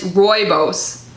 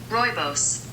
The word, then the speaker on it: rooibos: looked up the pronunciation it's rooibos rooibos Roy Bose rooibos okay I was singing